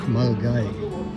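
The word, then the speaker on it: Milngavie: Spelled Milingavi, but it's pronounced Mulgai.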